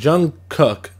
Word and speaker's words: Jung Kook: kid Leroy pop star from Australia we got Jung cook as y'all told me that's how it's pronounced and he's a BTS pop star so